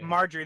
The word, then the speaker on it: Margaery: and BA her Nick her name's not pronounced the way it's spelled I was up no her granddaughter all right yeah mother Marjorie there we go yes